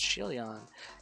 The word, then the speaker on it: Shieldon: Shieldon is a Pokemon with a shield. So it's actually pronounced Shieldon.